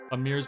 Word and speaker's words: Amir: the dad's is oh amir's blood type doesn't make sense so you you figure from that okay he hits his b um Jack said I wonder why they pronounce Amir like a mirror that might have just